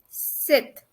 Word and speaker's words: sept: Sept. Sept. 7. 7. It would be sept.